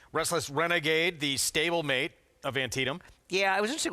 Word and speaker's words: Antietam: Yes, Greg and I are having a pronunciation Antietam. Antietam.